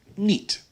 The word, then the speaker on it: niet: The long I, spelled I-E, is pronounced E, like in the word niet.